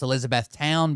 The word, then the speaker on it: Elizabethtown: It's actually pronounced Elizabethtown because it's a different one.